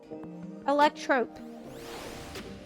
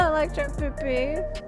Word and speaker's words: Electrope: Electrope. It's electrope. It's no PP. I'm saying it wrong, apparently. This shop sells food. It's not electro PP.